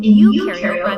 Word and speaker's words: eukaryote: rhymes with no, and u in eukaryote rhymes with do.